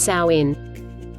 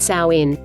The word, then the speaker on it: Samhain: Halloween's origins date back to the ancient Celtic festival of Samhain, pronounced Samhain. Samhain, pronounced Samhain.